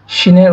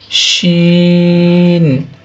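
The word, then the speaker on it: شين: আমরা দেখতে পাচ্ছি শিন শিনের উচ্চারণটা একটু মোটা হবে শিন শিন শিন অতঃপর আছে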